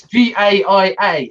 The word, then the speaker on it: Gaia: using the as it Gaia I did once it's not gay or is it it's Bai a how else do pronounce